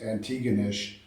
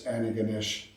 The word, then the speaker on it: Antigonish: from and Antigonish, which some Americans mispronounce as Antigonish, but it's Antigonish.